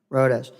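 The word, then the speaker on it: Rodas: and Refugee resettlement Miss Road Miss rhas how do you say your last name man rodes miss miss rhas is testifying in her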